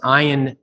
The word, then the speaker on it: Ian: right awesome so uh ion and your name is pronounced iron that which is i got that wrong right out of the gate so i'm one